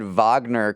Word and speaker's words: Wagner: I said Wagner correctly when talking about Russia's mercenary army.